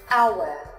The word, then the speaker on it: hour: The letter H will be silent in some cases, such as hour, honor, honest, air, vehicle, when.